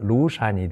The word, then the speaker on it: 廬山: 여산에 대해서 한번 보겠습니다 제가 우리 음으로 이제 그대로 데 중국 발음으로 하면 루산이 되는 거죠 중국 강서성 그리고 구강